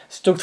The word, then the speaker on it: StuG: Did I just pronounce it as Stug over there? Nah, it's Stug. I always pronounce it as Stug.